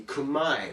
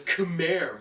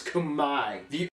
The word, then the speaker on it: Khmer: kumai yeah that's right all this time you thought it was khmer right no it's kamai to be fair i did pronounce it as khmer for i don't know how long r is silent and the e is an i the cambodian language is